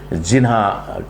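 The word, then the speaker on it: जिन्ना: नाम था उसके पीछे जीना उनका सरनेम हो गया और थोड़ा जो है अपभ्रंश होकर के जिन्हा कह सकते हैं या जीना कहते हैं। वो जो नाम जीना ही है, वो गुजराती में अलग उच्चारण हो जाता है, हिंदी में अलग उच्चारण हो जाता है, और थोड़ा पाकिस्तान की तरफ गए तो थोड़ा थोड़ा बदल गया होगा, कोई बड़ी बात नहीं है।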